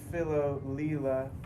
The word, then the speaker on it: Philo Leela: Yeah, and just for the record, my artist name is Philo Leela. So Philo rhyming with willow, Leela rhyming with 18-wheeler.